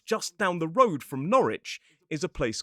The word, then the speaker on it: Norwich: So, they'll say Norwich and Greenwich. Now, you'll notice in the three examples I've given so far, while there is a W in the words in the place names, the W is silent.